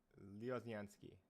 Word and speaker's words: Lioznyansky: So we are here with Lioznyansky.